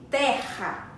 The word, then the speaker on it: terra: hora da nossa garganta Nossa garganta arranha um pouquinho quando pronunciamos Terra então Terra possui dois